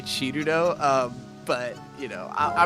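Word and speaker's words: Cirno: Well, in in the case so the character's name is spelled C I R N O which naturally reads as Sir, but in Japanese of course it would be written chiruno. And the reason people care in this case is because she is an ice fairy. And the joke is that she has chill in her name. Like Chiru is how Japanese people would pronounce chill.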